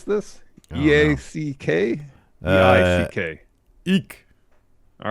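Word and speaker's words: Eack: uh that's his name david how do you pronounce this e-a-c-k eek all right galactica uh is remaking walking tall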